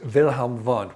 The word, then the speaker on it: Wilhelm Wundt: It was born by a gentleman named Wilhelm Wundt. That's a Wilhelm spelt with a W and Wundt spelt with a W, but he's from Germany. So it's Wilhelm Wundt, which is a much sexier name, if you will.